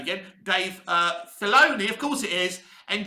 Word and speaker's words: Filoni: star wars now the second side is dave finale the days let's say his name again dave uh filoni of course it is and john favreau so